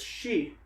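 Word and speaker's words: 四: Which is super unlucky because in Japanese the number 4 is shi, and shi is also like kind of, it sounds like the word for death.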